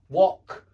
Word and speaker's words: wok: But this is a short o sound, o, like in hot, top, wok. Yeah, it's o.